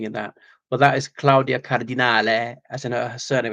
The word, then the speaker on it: Claudia: It is pronounced Claudia, not Claudia.